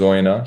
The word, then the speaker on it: Oyonnax: They pronounce the X, but the locals pronounce it as Oyonnax. So they do say the X in the southwest, actually, down here. I can't confirm, but it's definitely a silent X to the locals.